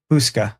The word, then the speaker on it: Houska: There's and Hushka, is that how it's pronounced? Houska.